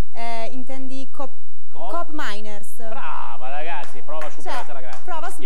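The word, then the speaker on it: Koopmeiners: L'Olandese che inizia con la k come si pronuncia eh intendi Coop miners Brava ragazzi prova superata ragazzi il croato pa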